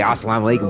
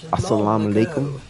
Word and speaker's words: assalamu alaikum: Um you know, not just say assalamikum, but assalamu alaikum.